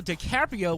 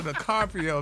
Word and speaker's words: DiCaprio: Leonardo DiCaprio saying that baby not Leonardo the Carpio man he was not worse than me follow